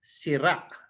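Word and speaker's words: sirâ: This one is the circumflex, so the accent is in the last syllable with the glottal stop. So you read it as sira, right?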